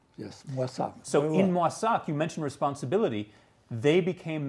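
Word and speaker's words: Moissac: family moved to the town in france of mwasak that's how i pronounce it yes what's up so in masak you mentioned responsibility they became members your parents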